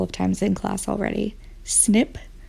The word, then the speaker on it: SNP: times in class already snip or snp we pronounce it snip stands for single nucleotide